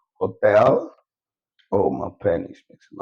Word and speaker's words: hotel: I've given you, for example, hotel. So anywhere H appears, is silent. You don't pronounce it.